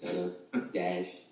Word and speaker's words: Duddadash: A lot of people have a hard time pronouncing it. Dudda Dash.